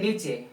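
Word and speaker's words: knee: नी घुटना क्या है यहां पर के साइलेंट है इस पढ़ेंगे के को नहीं पढ़ेंगे लेकिन लिखेंगे जरूर आंसर ए ने इ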